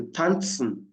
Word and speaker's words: tanzen: The Z is like t t. So tanzen. Tant.